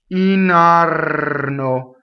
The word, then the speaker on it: indarno: Indarno, rolled R.